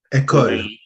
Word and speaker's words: École: I'm gonna spell it for you because I'm gonna mispronounce it. ECOLE. École.